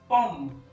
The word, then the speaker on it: pomme: ओ को हम ओ प्रोनाउंस करते हैं, जैसे कि शब्द है POMME, पॉम, PO पॉम, पॉम मतलब होता है सेब।